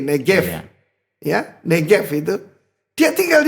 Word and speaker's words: Negev: Itu Negev, bacanya B kan V, Negev.